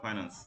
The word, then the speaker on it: finance: ফিনান্স বা ফাইন্যান্স, যেটা উচ্চারণ দুইটা আছে।